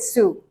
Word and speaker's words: Sault: So yeah, this is how we pronounce it, Sioux.